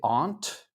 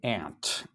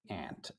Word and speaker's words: aunt: Some so some people say aunt. We say aunt. Ant.